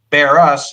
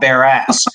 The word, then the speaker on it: Barras: to do it and my last name is pronounced bear us and not bear ass you got it we're